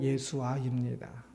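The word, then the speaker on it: ישוע: 그 히브리어로 예수아입니다. 이 뒤에 자음이 하나 더 써서 다르게 표현을 하긴 하지만 완전 동일한 그 발음입니다.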